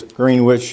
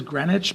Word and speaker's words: Greenwich: a brief question uh phonetically it's green witch is it sometimes called Greenwich I believe it is Greenwich but I'm not quite sure okay I think it depends upon what country you're sitting in you ask thanks okay